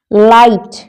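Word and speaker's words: light: लाइट लाइट पे जी silent है।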